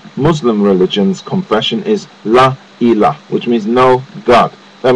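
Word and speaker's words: إله: Now, the Arabic word for God, the common noun for God in Arabic, is Ilah. It is not the word you have there. And Ilah is spelt Aleph Lam Ha. Ilah.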